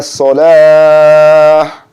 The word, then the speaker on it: salah: And remember to not put a T on the end of salah. It's a soft H here. So you say Hayya ala salah.